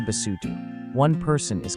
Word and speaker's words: Basotho: Say Basotho.